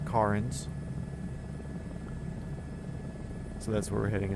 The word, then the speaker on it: Cairns: So, you can see there Tom uh confirmed that it is pronounced Kins.